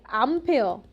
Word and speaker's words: 암페어: 암페어. 이것도 사람 이름이야. 앙페르라는 프랑스 사람인데 이걸 미국말로 발음하면 암페어가 돼서이 암페어라는 단위를 붙여 줘야 돼.